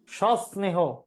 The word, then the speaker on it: সস্নেহ: মনে হইতেছে ভুল কোথায় এটার উচ্চারণ হবে এরকম স্নেহ স্নেহ সস্নেহ এই যে এখানে স দুইটা হবে সস্নেহ দন্তস নিচে হস তারপর